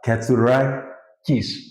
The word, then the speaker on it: Katzourakis: Katzourakis. Katzourakis. Katzourakis. It's the last part. Katzourakis. Kiss. Perfect. Katzourakis.